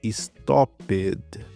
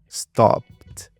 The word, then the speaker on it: stopped: Perceba que no verbo parar eu não falei stopped. Não pode falar stopped. Você vai falar stopped.